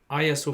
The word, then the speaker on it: Hagia Sophia: Hagia Sophia. That's how you pronounce it. Prince Haggis. Sophia. Haggis, like the Scottish word, and Sophia.